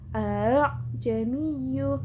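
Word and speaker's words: أَأَعْجَمِيٌّ: A-nya yang pertama dibaca jelas, yang kedua dibaca tashil. A'jamiyyu.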